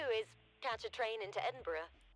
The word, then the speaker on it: Edinburgh: catch a train into Edinburgh so that is how you say Edinburgh I've been saying Edinburgh this whole time I feel like such a such an American okay I don't I